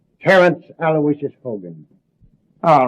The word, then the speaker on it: Aloysius: Terrence Aloysius Hogan.